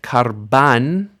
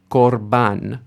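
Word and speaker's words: קָרְבָּן: So we expect karban, karban. Instead we get korban, korban.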